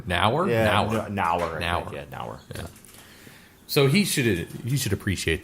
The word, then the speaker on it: Neuer: Yeah, it's Neuer. Nauer.